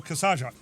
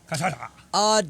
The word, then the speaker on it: cachaça: Okay, what's this really called, everybody? We've been watching a lot of Star Trek, so we go with those pronunciations. We even run into a lot of Klingon in the new show. Kasaja. Cachaça. Denver, I'm not sure about. See? I was close.